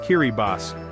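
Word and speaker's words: Kiribati: Kiriati, pronounced Kiribas, is a truly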